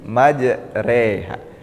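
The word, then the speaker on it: مجراها: hud ayat 41 I Jadi pada dasarnya setiap Alif yang berakat Fatah itu dibaca a namun khusus pada lafaz majroha ee ini dibacanya e sehingga menjadi majreha atau majroiha majreha bismillahirrahman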